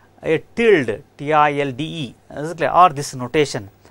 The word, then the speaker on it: tilde: we can use another notation right a tild t-i-l-d-e or this notation how we are going to pronounce it tilde is it clear can be